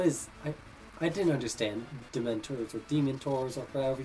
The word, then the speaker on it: dementors: um what is it i pronounced demon tours as as demon tours like demon not dementors like oh they're demented oh no they're they're